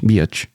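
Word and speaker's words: Biech: It's spelled D-E-B, Deb, and B-I-E-C-H, Beach.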